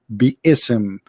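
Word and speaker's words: بسم: Even they agree, all the sheikhs agree that the word is not bism, it is bi-ism.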